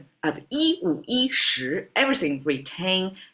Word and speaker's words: 十: Shí retains the pronunciation, doesn't have the E problem because shí is a rising tone.